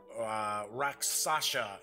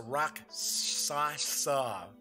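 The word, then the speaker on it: Rakshasa: Raksasha, or it's a Raksasa, I believe it's pronounced. Those were always pretty cool monsters.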